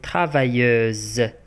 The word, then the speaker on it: travailleuse: Elle est travailleuse. Elle est travailleuse. Elle est travailleuse. Donc S entre deux voyelles se prononce Z.